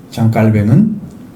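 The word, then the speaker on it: Calvin: 프랑스 사람인데 장 깔뱅이라고 읽어야 맞습니다. 근데 영어식으로 발음을 하니까 장 칼빈이 된 거죠. 절대 아니죠. 장 깔뱅은 하나님은 만물의 근원이요 축복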